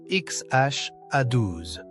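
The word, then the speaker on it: X Æ A-12: Il se prononce XH A1 où X est symbolique. H est une ancienne lettre anglaise et A12 est le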